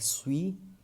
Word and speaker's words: suis: Next is UI. UI is pronounced as we. We find this combination in the word like suis and puis.